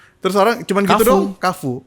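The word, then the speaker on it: Carrefour: Kafu bacanya KF Kafu. Kfu.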